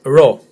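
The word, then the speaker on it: ρω: P in English, but for us this is ro, as in bro. Now again, if you're not Greek, slightly difficult to pronounce because it's a rolling R, so it's not a rounded R, and I'll explain now. It's as in try. I know even try or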